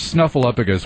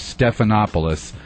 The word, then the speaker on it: Stephanopoulos: political correspondent of George snuffleupagus was mangled several times in various forums his name is actually George Stephanopoulos and now I have